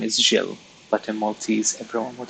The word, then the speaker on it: Gilles: The name is Gilles, but in Maltese everyone would call me Gilles. Not like Jill with the English pronunciation, but more abrupt. Gilles.